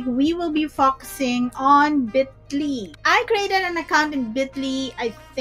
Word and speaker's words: Bitly: So yes, it's pronounced as Bitly.